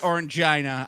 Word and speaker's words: Orangina: Do you know what Orange Gina is? And he's gone. He's gone like the moon. I know enough. I mean, I know it's it's pronounced Orangina, obviously.